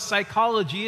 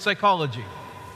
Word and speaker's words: psychology: you the word psychology, you hear the S first, right? What's the first letter in the word psychology? The P. The word pronounced properly according to the original language in Greek is psychology.